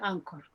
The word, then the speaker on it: Anchor: celular se llaman core se escribe anchor se pronuncia ancor es así como moradita